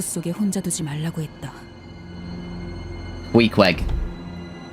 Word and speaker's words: Queequeg: Queequeg. No, you're saying it right?